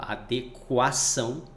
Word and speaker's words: adequação: Esse U é pronunciado lá, adequação, tá?